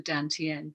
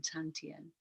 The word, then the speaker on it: dantian: We're tuning in with this rechargeable battery unit in our belly called the dantian, D-A-N-T-I-E-N, or sometimes it's spelled T-A-N, tantien.